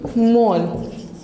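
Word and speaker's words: Mohl: पुरकिंजे एंड मोल, ठीक है, एच जो है साइलेंट है।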